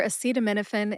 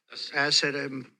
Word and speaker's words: acetaminophen: Acetaminophen has 6 syllables. Which is a schwa a sound, like the A in the word adoption. Seat, like a bike seat. Again, which is that short A sound again, or that schwa a sound.